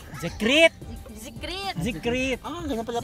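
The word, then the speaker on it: Zekreet: They called Zikrit. Zikrit. Zikrit. Zikrit. Ah, ganyan pala pronunciation na.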